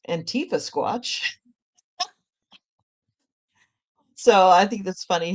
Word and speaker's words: Antifasquatch: And I think it's pronounced Antifasquatch.